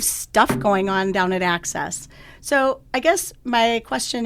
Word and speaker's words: AHCCCS: system but we all just lovingly call it access okay so for people that don't know it